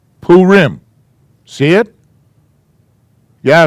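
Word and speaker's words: Purim: because we celebrate this yes two syllables this is a p sound this is a ooh sound so that must be poo ah another color pool poo rim see it yeah it's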